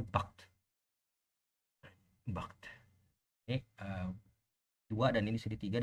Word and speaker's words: Barthes: Jadi kalau kamu bilang Jacques Derrida sama Barthes, itu Barthes ya, bacanya, tulisannya Barthes, tapi bacanya Barthes.